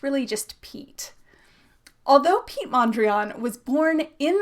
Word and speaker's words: Piet: That shortened form of his name, Piet, looks kind of French, so people sometimes mispronounce it as Pee-yay or Pee-yet, but it s really just Pete.